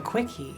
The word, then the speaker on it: CWCki: Para toda la información que recopilaron, los trolls hicieron una wiki llamada 'CWCki' (pronunciado "quickie", rapidito) dedicada a la compilación obsesiva de toda la información sobre Chris-chan.